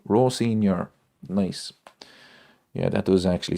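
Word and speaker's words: Rosenior: Ro Ros Rosaneir. I can never pronounce his name.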